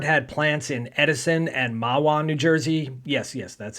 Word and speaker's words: Mahwah: Ford had plants in Edison and Mahwah, New Jersey. Yes, that's how you pronounce that name.